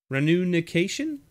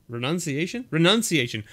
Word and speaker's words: Renunciation: And a Juru's Runication? Runication? How do you pronounce this word? Renunciation. Words, English, language, read letters in the order that they are placed.